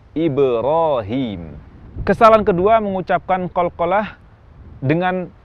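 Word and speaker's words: إبراهيم: Atau cenderung ke kasrah, misalnya waktu mengucapkan kata Ibrahim, bunyi qalqalah terucap Ibrahim, cenderung ke kasrah. Seharusnya bunyi qalqalah tidak dipengaruhi oleh harakat-harakat ini, sehingga yang tepat pengucapan Ibrahim, Ibrahim.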